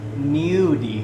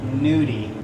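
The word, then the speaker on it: gnudi: it's nudy it's the filling and it's actually pronounced nudy nud not nudie we add more Bano with the ricota egg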